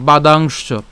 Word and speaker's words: বাদাংশ্চ: ঠিক আছে, এরপর বাদাংশ, তালব্যস্যটাকে আগে উচ্চারণ করে তারপরে চকে উচ্চারণ করছি, বাদাংশ।